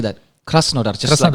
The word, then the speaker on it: Krasnodar: Krasnodar.